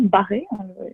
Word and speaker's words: Barré: Barry, qui est un député irlandais au nom francophone, puisque ça s'écrit donc avec un accent, Barré exactement, défend les colons face